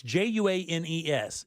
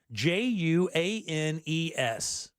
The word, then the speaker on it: Juanes: I've not heard of uh is it it's jua nees is that one e is that how that's pronounced juanice what is it again j u a NES oh Juanes Juanes oh that's the Colombian singer